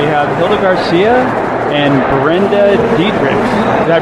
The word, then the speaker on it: Diederichs: We have Hilda Garcia and Brenda Dietrix. Did I pronounce that right?